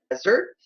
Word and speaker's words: desert: E a segunda aqui com dois S, a sílaba tônica já é aqui, ó. É a segunda, né? Não a primeira. Então eu vou pronunciar dessert. Desert e aqui dessert. Desert, dessert.